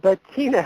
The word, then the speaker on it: Bettina: gonna bring her on right now but Betina Betina how are you doing hi I'm doing great and you pronounced my name just great okay so my